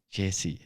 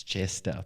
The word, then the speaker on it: Jester: He's like, hey, it's not Jesse, it's Jester Podcast Studios.